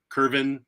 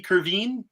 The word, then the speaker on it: Kervin: was awfully good I'm I've been worried that I've been mispronouncing kervin should it be curvine that's what the the broadcast was saying and I technically all right I I feel like I might have been mispronouncing it all this time but I thought he